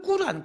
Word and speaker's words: 꾸란: 그들이 가지고 있는 코라 아니라 조 9단이 정확한 발음이 라 그런데 그 꾸란 코란 이라고 하는 그 경전 이에요 그리고 경전에 심취하고